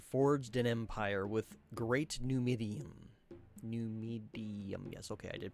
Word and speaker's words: Numidium: Centuries ago, Tiber Septim ruled the land and forged an empire with great Numidium. Yes, okay, I did pronounce that right.